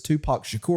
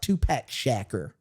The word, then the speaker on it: Tupac Shakur: this and we're like Dennis it's Tupac Shakur and he's like no it looks like two pack shacker I was like no